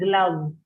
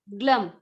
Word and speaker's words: gloves: There is an O in it, but the way you pronounce it is like an glove. Glove. Glove. Yeah. So the O is like an Think of it as an glove.